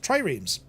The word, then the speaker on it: triremes: That's how you pronounce it, triremes, which were around 37 metres in length, 6 metres wide, with 3 banks of oars.